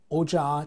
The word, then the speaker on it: ocağa: All right, there is normally K, but in the example of sentences, we all the time change K to soft G to make, you know, the match with the vowels and consonants formation.